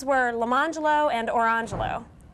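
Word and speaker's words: Lemonjello: Their names were Leangelo and Orangelo.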